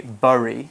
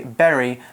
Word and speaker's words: bury: Barry is its pronunciation you see that Barry is spelt bu ry but we don't say burry we say bury the same way that we say the very that you eat ee rry there's no difference in pronunciation between the two okay so I can't